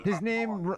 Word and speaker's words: Vaughn: He's I told probably Vaughn. His name rhymes with Ron.